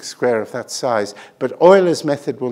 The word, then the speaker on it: Euler: So all the numbers that Euler couldn't do, apart from 6, they managed to do. And so they're called the Euler spoilers, which is a good way of reminding students how you pronounce Euler's name.